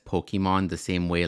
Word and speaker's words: Pokémon: like how he says Pokemon the same way like my mom says Pokemon like Pokemon like like it's called It's pronounced Pokemon Waka you should know